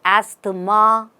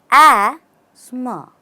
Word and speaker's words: asthma: you pronounce this word do you say Asma then it's incorrect the right way is say Asma and Transit into the second part Asma Asma or Asma so let's look at